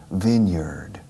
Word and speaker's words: vineyard: Pero cuando lo pegas a viña, es vine escrito, para decir viñedo, la pronunciación cambia. Y ya no es yard. Cambia como si fuera una E. Vineyard.